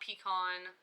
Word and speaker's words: pecan: It's pecan, not pecan, not pecan, pecan.